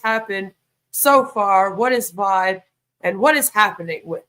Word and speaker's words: VYB: quick little recap so Vibe spelled VB but pronounced Vibe Vibe was introduced as a new platform in